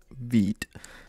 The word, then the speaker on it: Vite: I think it's French, so it's like Vite for, I think it means quick, not too sure. So yeah, it's French word for quick, so there we go, it's pronounced Vite.